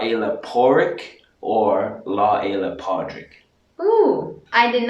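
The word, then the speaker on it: Pádraig: The proper pronunciation is Padraig. Padraig. Padraig, or some people pronounce it and the spelling can change, Porrick.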